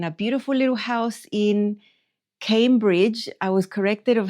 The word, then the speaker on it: Cambridge: saying the word because when I see the name, I want to say Cambridge. It's apparently wrong. So I'm going to try to say it Cambridge. It just is not a natural type of pronunciation for me to say it like that, but I think that's how it's said, like Cambridge.